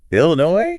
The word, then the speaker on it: Illinois: Idaho we have Illinois Illinois Illinois silent S at the end oh that gets people